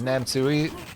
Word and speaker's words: Namsui: Is Namsui pronounced like Chop Suey?